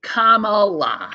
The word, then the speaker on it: Kamala: A big comma. Yeah, it's a good t-shirt. And then L-A, Kamala.